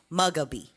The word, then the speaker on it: Mugabe: First name is Robert, but his last name is Mugabe.